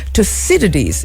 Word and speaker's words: Thucydides: Thucydides is the correct pronunciation.